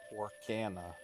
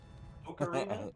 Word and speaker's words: Ocarina: Oh, what was the awful pronunciation of Ocarina? Orcana. No! Don't breathe life into that, you fool! Ocarina?